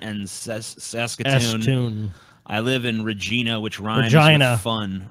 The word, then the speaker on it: Regina: Saskatoon I live in Regina which runs I enough on Regina okay Regina Regina Regina or Regina doesn't rhyme with fun well they're saying it rhymes with vagina they're saying that synonymous